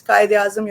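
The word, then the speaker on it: Quaid-i-Azam: one thing in my introduction you could not pronunciate the name of my University from where I took my PhD degree it's Ka aam University it's very wellknown University in Islamabad okay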